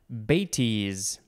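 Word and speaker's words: bêtise: at times synonym is occasionally now we have batis it is spelled b-e-t-i-s-e and there is a little uh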